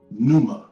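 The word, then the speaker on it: pneuma: adopted the word new from the greek word numa which is p n e u m a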